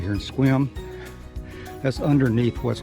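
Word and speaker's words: Sequim: continues on this area is just outside of swim washington squam is spelled s-e-q-u-i-m it's a native american word and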